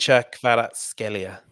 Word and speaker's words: Kvaratskhelia: Kvicha Kvaratskhelia.